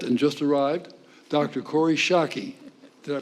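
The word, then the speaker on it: Schake: Corey Shockey. Did I pronounce that correctly?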